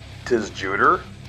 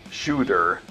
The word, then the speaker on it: Tsjuder: black metal band called tis juter nah I'm just joking the band's name is actually pronounced like shooter and this is their